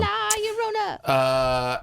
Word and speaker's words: La Llorona: Let's talk about Curse of La Llorona. This was an Atkinson. Yeah, you said it right. Yeah, well, it's two L's, so that's a Y sound. La Llorona.